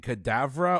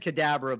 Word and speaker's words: Kedavra: yes i couldn't see i couldn't tell if you're pronouncing cadavera or cadabra i couldn't right here there's a b in there yeah they dwell they they said kadabra but i knew jeff